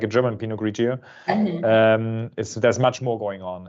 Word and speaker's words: Grigio: It's the Pinot Grigio, and I'm always pronouncing it wrong. It's the Pinot Grigio. Grigio. It's Grigio. Grigio. Yeah, I'm tending to pronounce the double E.